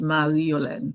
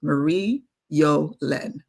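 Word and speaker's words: Marie Yolène: If you are Haitian it's easy. It's Mari Yolen. The R is difficult. So I'm good with Marie Yolen.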